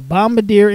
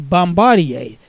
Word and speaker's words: Bombardier: reporting Mark of the Bombadier Incorporated Transportation equipment group now I've also heard it pronounced as Bombardier so pick your preference potato potato indeed Passenger